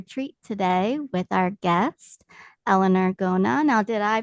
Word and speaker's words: Eleanor Gona: in for a treat today with our guest Elellanar Gona. Now did I pronounce that proper properly?